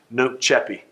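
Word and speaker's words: nunc coepi: is a latin phrase no cheppy uh i say at the alabama way but uh n-u-n-c-c-o-e-p-i uh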